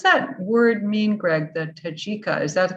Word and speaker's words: Tajika: The Tajika, is that the correct pronunciation? Tajika.